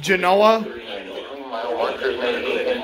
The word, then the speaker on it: Genoa: By the way, it's pronounced Genoa.